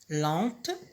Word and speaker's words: lent: Lente, au masculin c'est lent.